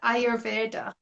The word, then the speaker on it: Ayurveda: Yeah, so I would say Ayurveda.